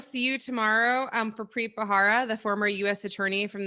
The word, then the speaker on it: Bharara: Yeah, but before he shows up, though, learn to pronounce his name. It's Bharara, not Bharara. I think you said Bharara.